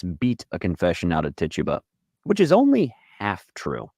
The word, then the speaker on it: Tituba: Reverend Paris's own slave, a woman named Tituba, or Tituba, or Tituba. I've heard it pronounced all three ways, and there seems to be no rhyme or reason whatsoever. I will call her Tituba.